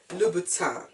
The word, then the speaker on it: Louboutin: It's a review of a pair of beautiful shoes by Christian Louboutin. However it is pronounced, all I know is that the N is silent.